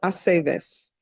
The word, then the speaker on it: Aceves: It's always ve. Bay, Aceves.